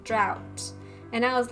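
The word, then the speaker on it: draught: and I was like, isn't it pronounced draft and then Pon says draft of lucidity? Or is is that one of those words that's like pronounced differently based on what country you're in? Um, I thought it was draft.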